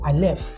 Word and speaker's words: aleph: This is a silent letter, and that is your aleph.